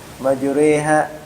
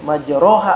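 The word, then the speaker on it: مجراها: Nah, majureha harusnya majroha harusnya bacanya begitu.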